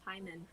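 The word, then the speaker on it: Paimon: Is it Pyman or Payman? I always get his name wrong. As you guys can tell, I'm terrible with names. I was to say, I've always heard it as Pyman.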